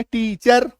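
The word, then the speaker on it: teacher: आ रहा है तो लिखते समय तो ऐसे लिखेंगे टीचर बोलते समय टीचर बोलते समय टीचर टीचर अ क्या बोलोगे टीचर अ बस इतना ही बोलना र बोलना ही नहीं है पूरा र का हल्का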